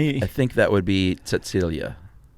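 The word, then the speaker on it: Cäzilia: Uh, the wife's name was Kazilia. Silia. Frank. No. If I'm not mistaken, if you begin a word with C in German and it's pronounced like a like a TS.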